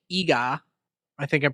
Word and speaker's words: Iga: Well, there's a Japanese city called Iga. I think I'm pronouncing it right.